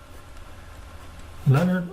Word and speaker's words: Leonard: Leonard Euler. Now, I mispronounced his name for many, many years, but it's Euler, like someone that's drilling oil wells.